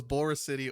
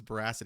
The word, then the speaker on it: Boracity: But I wanted the clarification if it was Bora City or if it was Boracity, because in the beginning, your boy was saying Boracity like every time.